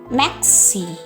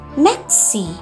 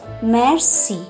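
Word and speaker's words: merci: Next is Maxi or thank you. How is it pronounced? It is pronounced as maxi. It is not mercy. It is maxi.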